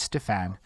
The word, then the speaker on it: Stephan: So if you saw my Facebook poster earlier, it's Stephan. That's how you pronounce my fucking name.